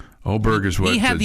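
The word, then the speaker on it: Åberg: Man, everybody's got a different pronunciation on it. He's not helping. We asked him. He's not helping. Right. Oberg is what he had the Jim Nance opportunity said to fix us yesterday.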